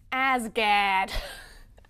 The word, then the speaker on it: Asgard: It's pronounced Asgard. I actually go to school in Boston, so I can verify that that is the correct pronunciation.